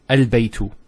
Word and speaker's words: البيت: Now knowing that this is a hamzatul wasl, we know that with hamzatul wasl, if it starts off a sentence, it's pronounced. So al-baytu.